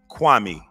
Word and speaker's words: Kwame: So I want to go on record to say, Stephen A., how my name is pronounced, you say it like this, Kwame.